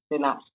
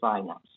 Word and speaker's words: synapse: called by lapses yep synapse or synapse which other pronunciation we prefer but how does message